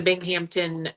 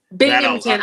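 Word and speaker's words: Binghamton: Um, so for example, yesterday's uh tech stage um session with Paul Cenoa, I think I'm pronouncing that right from the Bing Hampton uh Philarmonic Orchestra. Well, it's Bingmpington that I'm going to pull a New York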